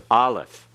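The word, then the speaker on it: aleph: for the ion and this letter is silent it cannot be pronounced unless it has a vowel with it and in some cases it is absolutely silent it's in a letter or in a word rather it's any word and is absolutely silent it's there but is not pronounced at all so Olive is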